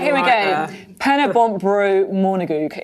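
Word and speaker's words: Pen-y-bont a Bro Morgannwg: Pennybontbro Monagweg is the correct pronunciation of that.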